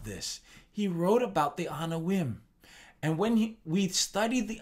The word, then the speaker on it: Anawim: Pronounced Anawim.